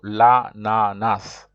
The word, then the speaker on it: ananas: So like I said, some people they don't, but me normally the pronunciation is with an S. So je mange de l'ananas.